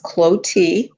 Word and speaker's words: Clottee: little bit about yourself my name is pronounce cloti and I'm a second